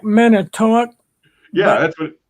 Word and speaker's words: Manitowoc: Manitowoc. Manitowoc? Manitowoc. Manitowoc. Okay. It looks like Manitowoc, Yeah, but that's what. it's pronounced.